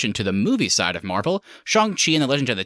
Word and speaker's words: Shang-Chi: Is it Shang-Chi or Shang-Chi? It's actually a joke in the movie, Keith, but it is indeed Shang-Chi.